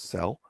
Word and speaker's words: CEL: expression language known by the acronym Cel pronounced cell that already has some